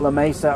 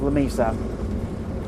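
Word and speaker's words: Lamesa: want to say it La Mesa or something but in Texas it's pronounced La Mesa I can promise you and I can prove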